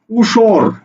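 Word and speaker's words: উষর: লিখলাম উসর দেখো উসর এই উসর শব্দের উচ্চারণটা কি হবে দেখো তো উসর উসর অক্ষর কয়টা দুইটা না উসর অক্ষর দুইটা না দুইটা অক্ষর দেখো উর এই উটা হচ্ছে মুক্তাক্ষর এটা হচ্ছে বদ্ধাক্ষর এবার তাহলে লিখে ফেলো উতরে কি স্বর অসর উসর বোঝা গেছে উসর সমান সমান কি উ তা তালব্য সর স্বর উসর এভাবে তোমাকে উচ্চারণটা লিখতে হবে এরপরে আসো যদি ঋ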